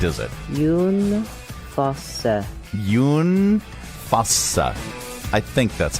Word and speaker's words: Jon Fosse: Now, I would pronounce this John Fosse, but that's not correct, is it? Jon Fosse.